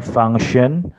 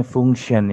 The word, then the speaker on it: function: kemudian ada lagi tadi seharusnya function tetapi bilangnya Fungtion Ya sebentar terus ada